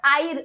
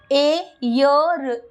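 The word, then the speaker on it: air: चीज आपको समझनी है अब आप इसको आयर अगर हमेशा स्पेलिंग के हिसाब से नहीं पढ़ना आपको कि आयर लिखा तो आयर पढ़ ले नहीं यहां पर आपको क्या करना है ए यर एयर आपको एयर पढ़ना है एर ए अर देखिए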